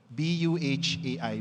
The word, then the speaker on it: Buhay: Because if you spell it out, it's phonetically the word for life in Filipino, B Uh AI, Buhai.